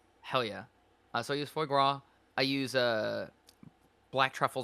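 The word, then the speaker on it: foie gras: I use gua or foy gua. What? Duck fat. You said it right. You said it right. Hell yeah. So I use foy gua.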